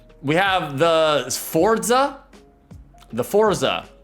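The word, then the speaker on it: Sforza: Like, all right, we have the Forza. The Forza. It's SF O R Z A. I'm I'm assuming the S is silent.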